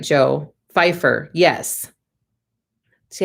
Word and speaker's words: Pfeiffer: Pfeiffer. Yes. See, I grew up with someone who had kind of a similar name, but they pronounced the P instead of the Fs. So it was pronounced differently.